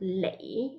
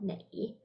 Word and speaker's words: 你: Now it's lei instead of nei.